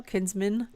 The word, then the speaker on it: Kinsman: Yeah, and you guys had an interesting weekend at the Kinsman House in Warren, Ohio. Kinsman, is that how you say it? Yes, Kinsman.